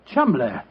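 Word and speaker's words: Cholmondeley: Chumley. That name spelled C H O L Ch M O N Man D E D L E Y Char Manderlay.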